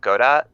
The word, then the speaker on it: Godot: of uh picking up Godot yeah or I think it's pronounced gdo I have no idea yes gdo like like the fellow you wait for I believe yeah that